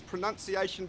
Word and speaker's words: pronunciation: you are finding this pronunciation video helpful the confusion lies because of the verb which is pronounced this has the our sound the pronounce but the noun is pronunciation it has the AA sound so you must practice